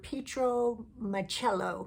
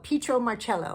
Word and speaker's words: Pietro Marcello: So, let's talk about the film Dues by the director Petro Marello. Marello. Petro Marello, I believe, is how you say it.